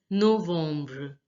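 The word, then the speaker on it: novembre: again October again October November is pronounced as November November now see the em is pronounced as om in French the EM sound is pronounced as um November no worms now listen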